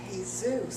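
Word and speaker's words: Jesús: Sydney it's Manolo and Jesus Manolo and Jesus you don't pronounce the J where is there a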